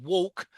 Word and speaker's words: walk: And walk rhymes with talk.